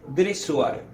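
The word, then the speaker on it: Dessoir: francés ese se llamaba Max dresuar Max dressoir como se escribe y él definió Este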